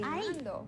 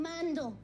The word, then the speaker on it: Mando: Estoy cantando means I'm singing, and cantando rhymes with Mando.